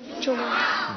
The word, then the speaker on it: جمعہ: جیم پر بھی پیش ہے، میم پر بھی پیش ہے، تو کیا ہوگا؟ جمعہ. جمعہ. تو یہ اس کا درست تلفظ ہے.